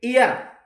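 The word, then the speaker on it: heir: एच इ आई आर यानी हियर शब्द नहीं है ये एयर एयर बोला जाएगा ये इंपॉर्टेंट है शब्द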